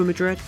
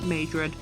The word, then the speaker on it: Madrid: Vancouver velocity it's hard to get excited for Madrid also again I'm happy I did my research cuz I was very prepared to go into this video pronouncing it majri yeah that wouldn't have gone down would it